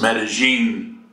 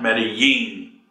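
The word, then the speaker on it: Medellín: go to managing or the SFA's pronounced meta-gene not many ye if you're in Colombia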